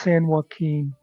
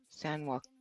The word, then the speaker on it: San Joaquin: It's pronounced San Joaquin. It's not. You don't pronounce the Q. San Joaquin.